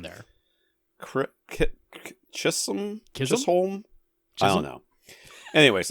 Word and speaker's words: Chisholm: Stephen and Chisholm? I don't know how they pronounce it. There's no R in there. Chisholm?